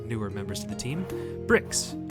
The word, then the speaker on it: Br1xx: know what i'm sorry is it is it bur1x6 i don't want to say it wrong okay oh it's brick just making absolutely certain